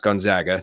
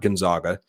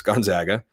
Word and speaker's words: Gonzaga: They have, which is pronounced Gonzaga, not Gonzaga. It's Gonzaga, Santa Clara, St.